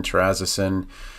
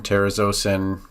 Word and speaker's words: terazosin: different but prazasin doxazosin terrazasin some people pronounce it doxazosin terazocin you know tomato tomato but these are three of